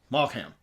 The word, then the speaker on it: Maugham: Malham. I'm gonna say Malham. Where? Okay, the human body. Somerset Maugham. Maugham.